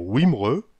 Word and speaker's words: Wimereux: nord pas de calais le w prononcé commun ou ou bien commun c'est le cas en belgique et en angleterre on peut dire wimereux ou 8 me re la lettre v des